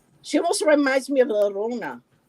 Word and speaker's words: Llorona: She almost reminds me of La Rona. Right. Did I pronounce it 30. right? Yes. La It's Llorona.